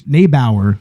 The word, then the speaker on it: Neibaur: is directed by Bruce nebauer I believe that's how you pronounce it and written by